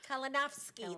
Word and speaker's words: Kolinowski: Kolinowski. That's how you say it.